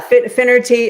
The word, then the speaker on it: Finnerty: Yeah. Finerty. It's phonetic. People pronounce it all different ways, but yes, you did a great job.